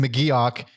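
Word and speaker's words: McGeoch: his name is actually not pronounced muuch I didn't think it actually was no we it's much funnier to call him muuch than Mok it is Mok I didn't know that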